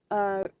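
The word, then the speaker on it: Corenswet: Score was done by David Fleming and John Murphy, starring David Cornsweet?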